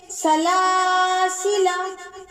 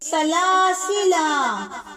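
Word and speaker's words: سلاسلا: ملا کر پڑھیں گے۔ سلاسلہ، لکھنے کی صورت میں یعنی الف لکھا جائے گا، پڑھا نہیں جائے گا۔ پڑھنے کی صورت میں سلاسلہ اور وقف کرنے کی صورت میں سلاسلہ۔ اگر اگلے لفظ کے ساتھ ملا کر پڑھیں گے تب یہ الف نہیں پڑھا جائے گا۔ اسی طرح الظنون،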